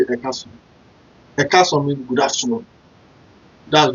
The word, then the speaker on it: Ẹ káàsán: Ekason simply means good afternoon.